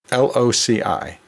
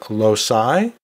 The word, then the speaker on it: loci: The next term on our word dissection list is loci, L-O-C-I.